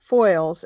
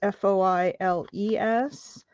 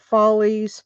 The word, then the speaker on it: Foiles: You know, my last name is Foiles, Foiles, and I can't, it seems very intuitive to me how you would pronounce that. It's like tinfoil with an ES on the end of it. I get follies, foilies, I get all kinds of stuff.